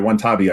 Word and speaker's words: Watanabe: It's it's like what Sorry, Watanabe I think is how you pronounce it.